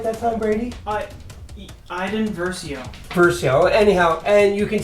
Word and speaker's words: Iden Versio: Iden Verso, did I say it right that time, Brady? Iden Versio.